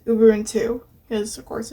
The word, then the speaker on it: Ubuntu: everyone 2 10.10 and yes it is actually pronounced Uber and two because of course it's a it's based on